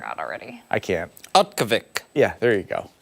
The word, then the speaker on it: Utqiagvik: This is the new pronunciation of it. I forgot already. I can't. Utkavik.